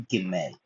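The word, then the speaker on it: גימל: जो तीसरा अक्षर है उसको हम लोग कहते हैं गिमेल। गिमेल, इसका उच्चारण भी होता है ग का, लेकिन सबसे पहले इसको लिखना देखते हैं हम लोग।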